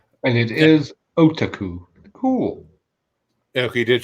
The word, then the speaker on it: otaku: And it's actually otaku. That's the Otaku. correct pronunciation. Otaku.